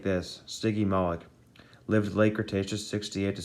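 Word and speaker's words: Stygimoloch: punch uh sticky molex say it like this sticky malik lived late cretaceous 68 to 66 million years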